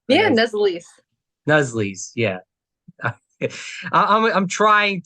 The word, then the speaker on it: Nuzzolese: Did I spell it say it right? Yeah, Nazalies.